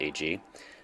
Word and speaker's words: Heidi: Today's chat is with Rob and AG, spelled like Heidi but pronounced AG.